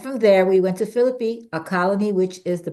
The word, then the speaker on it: Philippi: even though it's a bunch of I is pronounced Philippi the first city where Paul will preach and